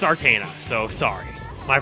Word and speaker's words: Arcana: Not Arcana. I know I always say Arcana. I always have. However, it's Arcana, so sorry.